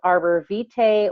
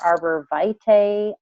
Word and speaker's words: Arborvitae: All right, so this is pronounced Arborvitae or Arborvitae. Both of those are correct pronunciations. It kind of depends on what you want to say, but I've heard both of them pronounced that way.